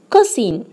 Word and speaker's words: cousin: As an example, first word, cousin. Now you can tell what is the silent letter here in this word, cousin. Yes, it is letter O. Letter O is silent here.